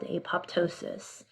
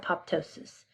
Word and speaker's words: apoptosis: And so we do this through something called apoptosis or apoptosis. So depending on how you want to pronounce it.